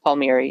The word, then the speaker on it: Palmieri: Is it Palmieri or yeah? It's Palmieri. Yeah. Yeah, it's actually a pretty easy name to pronounce. A lot of vowels, but pretty easy.